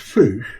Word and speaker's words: fossa: Aren't they pronounced foosh? Yes, they are, but most English-speaking people still say fossa because we still work in English on things.